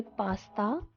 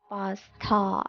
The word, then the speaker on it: pasta: Please remember to pronounce tha sound correctly. It is not ta, it is tha. A lot of people say pasta, they use ta sound in replacement of tha. So it is pasta, not pasta.